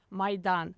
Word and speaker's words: Maidan: I'm Mis- How do you pronounce it? Maidan.